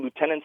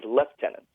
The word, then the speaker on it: lieutenant: the members including myself referred to lieutenants as left tenants and that's also very common in the British Army and the the British Armed Forces in general so I was always wondering why it's pronounced that way uh especially in the more Commonwealth Nation compared to let's say in the states where the rank is referred to as Lieutenant yeah that's a really